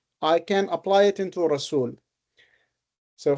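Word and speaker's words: رسول: Rasul rhymes with fa'ul, and fa'ul follows pattern number one, which is fa'ul.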